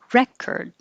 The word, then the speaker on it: record: If this is a noun, the stress is on the first syllable. Record. Re is the vowel as in head, re, and then the OR changes to ER, record.